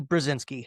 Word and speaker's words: Brezinsky: A huge welcome to the show, Vinnie Brazinski.